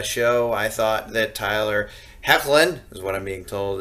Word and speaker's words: Hoechlin: week of the show I thought that Tyler hoechlin is what I'm being told is the way to pronounce his name now was much better I